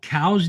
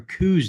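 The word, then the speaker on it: Coues: Are they called cows deer or kous deer? Well, the the proper name is cow deer because it's named after it was named after a man and he pronounced his his name caus.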